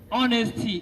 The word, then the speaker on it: honesty: Then honesty instead of honesty, the H, letter H is silent later, right?